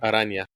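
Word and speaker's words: Araña: I always screw up pronouncing this character's name. Aranya.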